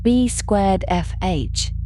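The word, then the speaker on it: B²FH: And it is often referred to by the shorthand B squar FH pronounced B squar FH which is simply the first letters of their surnames arranged in a way that is easy to remember.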